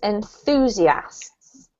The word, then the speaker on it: enthusiasts: Good, but at the moment what you're doing is you're putting the emphasis on here, probably because you're thinking about it. What we need is the emphasis on this syllable, so it's enthusiasts.